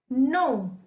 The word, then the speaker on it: know: नो, KNOW, नो। यहां पर हम के को साइलेंट पढ़ेंगे तो ये हो जाएगा नो।